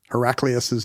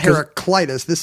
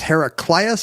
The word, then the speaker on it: Heraclius: Well, this is not Heraclitus. It doesn't have a T. Oh, I see. So it's Heraclius or Heraclius, maybe? Heraclius. I'm sure we'll find... Someone's going to yell at us about it. Does it rhyme with miraculous?